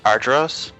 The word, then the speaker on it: Argyros: and Argyros. Good job, you pronounced it right.